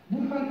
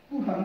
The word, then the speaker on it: Burhan: Bur, Buda'nın Tang dönemi Çincesine ait telaffuzudur. Han da Türkçe kelimedir, Burhan. Bunu Burkan diye de okuyabilirsiniz.